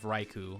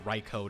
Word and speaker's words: Raichu: the ancient form of Raichu or raicho depending on where you come from and how you pronounce it um and then there